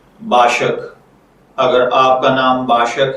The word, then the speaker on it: Bashaq: तो चलिए बढ़ते हैं अपने आज के टॉपिक बाशक की जानिब।